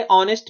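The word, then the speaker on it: honest: नेक्स्ट आ रहे ऑनेस्ट मैन, अब यहाँ पर एच बिल्कुल साइलेंट है तो यहाँ पर क्या होगा एन।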